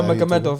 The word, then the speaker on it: Nurmagomedov: Nurmagomedov, and I said it right.